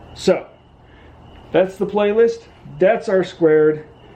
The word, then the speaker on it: R²: That's R squared. We type it R2, but we pronounce it R squared.